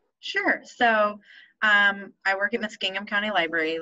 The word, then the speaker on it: Muskingum: Stephanie is the Assistant Interim Director at John McIntire Library, which is part of the Muskingum, am I saying that right? Muskingum, yeah. Muskingum. I'll mispronounce the word Smith, so my apologies.